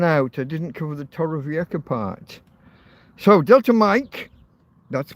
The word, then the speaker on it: Torrevieja: In Torrevieja, it's actually not a K, it's a J-A, Torrevieja, is a, pronounced like Loch in Scotland, when you know, a lake, a Loch Ness, L-O-C-H. It's pronounced similar to that.